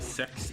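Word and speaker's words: CeX: store called Computer Exchange, or Sex as you will. I don't like saying that because it's like, oh, I'm gonna go get something at the sex store. I hate that its actual pronunciation is sex.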